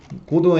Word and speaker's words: Godot: GD 스크립은 뭐냐면 이제 얘네들 고도 스크립이라고 해야겠죠. GD가 고도의 그 T는 묵음이라서 발음 안 한 것 같더라고요.